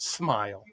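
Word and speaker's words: Smael: His name's Smile. That's cool. S M A L pronounced Smile.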